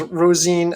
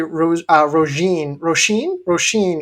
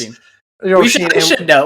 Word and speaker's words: Roisin: So, for instance, Rosine Willis is actually Roisin Willis. Roisin. We should know that. Come on, like the Irish pronunciation, I don't know, dude.